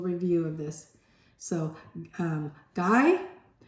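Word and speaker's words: Gay-Lussac: of this so um guy it says gay but you pronounce it guy I think um guy lusac law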